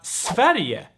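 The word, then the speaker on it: Sverige: all right and also you have a very nice g here that is uh pronounced e like we had just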